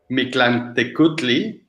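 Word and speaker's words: Mictlantecuhtli: Henrik's is Mictlantecutli.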